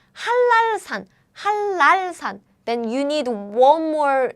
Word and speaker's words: 한라산: Remember, when ni은 meets 리을, ni은 changes to 리을 sounds as double L, like 한라산. So this one is 한랄산.